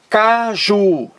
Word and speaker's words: caju: entendeu então vamos aqui a palavra caju caju duas sílabas a sílaba mais forte é a última Ju Caju é a